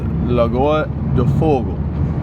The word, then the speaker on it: Lagoa do Fogo: It's Lagoa do Fogo.